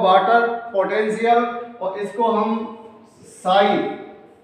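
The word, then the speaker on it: psi: Potential, और इसको हम साई, पी एस आई साई, ये पी साइलेंट है, यहां पर साई के सिंबल या चिन्ह या प्रतीक के द्वारा हम इसको प्रदर्शित करते हैं।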